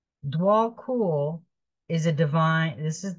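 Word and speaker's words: Djwhal Khul: this is a very beautiful card this is pronounced dwall cool dwall cool is a Divine this is the Divine Mission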